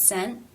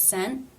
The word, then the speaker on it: sent: It's an ending T. It's part of a consonant cluster, but remember NT was the exception consonant cluster. So the T here is a stop. I was sent, I was sent, I was sent home.